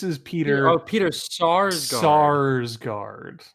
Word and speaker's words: Sarsgaard: Sarsgaard, not Skarsgård. Oh. Yes, this is. What's the difference really? I mean, a lot. In everything, I guess. Yeah. I like Peter Sarsgaard, but not in this movie.